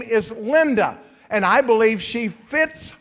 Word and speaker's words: Linda: My wife's name is Linda, and I believe she fits her name because that's a Spanish word pronounced as linda.